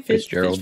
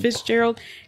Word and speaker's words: Fitzgerald: Fitzgerald. Fitzgerald.